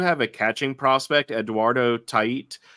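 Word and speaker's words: Tait: a catching Prospect Eduardo tiit it's spelled t AI T but I heard them pronounce it TI um catching Prospect he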